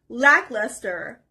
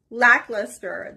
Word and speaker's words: lackluster: The next word is lackluster. Lackluster. The stress is on the first part.